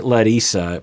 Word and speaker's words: Larissa: weren't fighting and by the way i say let isa because that's how she pronounces it and i'm getting a lot of